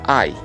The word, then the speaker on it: I: viendo en la pantalla una y mayúscula y se pronuncia ay yo en inglés es